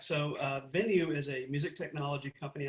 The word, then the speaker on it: VNUE: I assume is pronounced VNUE, but it's VNUE. So That is uh, correct. Yeah. I figured I'm just filling in the E, and it's not some crazy like VNUE.